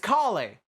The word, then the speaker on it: Collei: So, or Collei. It's Collei. Sorry, I'm still learning how to pronounce some of these names, but one banner